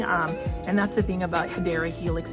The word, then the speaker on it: Hedera helix: This one is a Hydra Helix. So for those that don't know, that is not the correct way to say Hedera Helix, which is the English ivy.